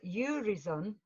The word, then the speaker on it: Urizen: Well, some people say Urizen, and then when I went to the Blake Society, they were saying to me, Urizen, it's meant to be your reason, because it is reason, isn't it?